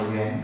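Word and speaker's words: 元: nhị và dưới là bộ nhi, và ta đọc là yuén.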